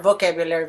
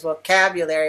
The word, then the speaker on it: vocabulary: can show him that his word of vocabulary vocabulary V is a little bit too big compared to everything else whereas mine is vocabulary with the second syllable and then making the